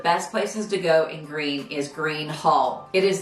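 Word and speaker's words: Gruene: go to Fredericksburg fourth on the list is green Texas and you spell that gr r u NE e it is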